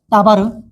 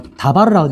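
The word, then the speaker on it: דָּבָר: 따바르. 따바르는 말씀입니다. 말씀. 따바르라고 읽어요. 뭐 다바르라고 읽기도 하지만 보통은 따바르라고 읽습니다. 그래서 미드바르라고 읽어요.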